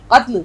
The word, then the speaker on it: قتل: کر دیا۔ اب دیکھیے، قتل صحیح تلفظ آنا چاہیے، قاف تے لام، قتل۔ ادھر اور لکھ دیتی